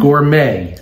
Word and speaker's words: gourmet: you for your your reading skills it's your pronunciation it's Gourmet Gourmet Gourmet okay number 58.